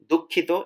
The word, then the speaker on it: দুঃখিত: If you want to say sorry, you can just use sorry, or the Bangla term is actually দুঃখিত. It's a little bit difficult to pronounce.